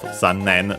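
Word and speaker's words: 残念: So, the usual accent of zannen, low, high, high, low.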